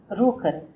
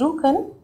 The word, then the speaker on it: Rjukan: The other case study I want to take up over here is about a Norwegian city called Rjukan. The pronunciation is Rjukan. Norwegian language pronounces J-U as double O.